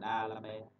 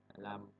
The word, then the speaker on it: D'Alembert: Cái này mình đọc là giống tiếng Việt đó, mình đọc là D'Alembert. D'Alembert. D'Alembert.